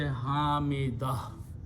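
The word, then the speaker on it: حميدة: But if you stop, you pronounce this last ha as the last ta as the sound of ha with a fataha. So you say Hamidah.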